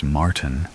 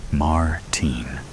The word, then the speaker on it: Martin: He pronounces Martin in the American way, rather than the way I prefer it. Martine.